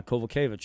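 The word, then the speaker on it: Kowalkiewicz: it I know well that's the way you'd say it if you were from Chicago but since it is she's a Polish fighter yeah co from Poland yeah Koval kovitch is the pronunciation so yeah Karolina she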